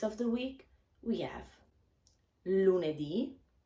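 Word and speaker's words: lunedì: to pronounce lune d with the accent on the last vocal marte di mercole di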